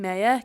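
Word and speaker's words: Meyer: Would you pronounce her last name Mayer? Katie Mayer. Yes. Yeah. How else were you thinking? Maya. Mia.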